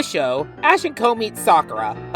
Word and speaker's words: Sakura: And yes, I'm pronouncing her name Sakura unlike the super 4 Kids way the show pronounces it.